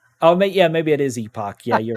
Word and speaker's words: Epoch: it wrong Epoch oh yeah maybe it is Epoch yeah you're right my bad as soon as